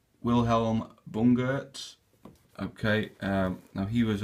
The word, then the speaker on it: Wilhelm Bungert: with the shelltoes so they are the I'll pronounce this correctly Wilhelm Bunger okay um now he was a I believe